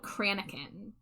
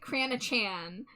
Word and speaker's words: cranachan: So, I'm specifically drawing it is a Scottish dessert called Cranin. I at first pronounced it Cranachan, then I pronounced it Kronakin, and then Jade finally looked it up and it's Cranin, like like Cranin Skywalker.